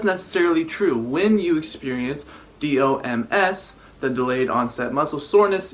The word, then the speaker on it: DOMS: lot of research about dumb Dom's you pronounce it Dom's basically delayed onset muscle soreness I did a lot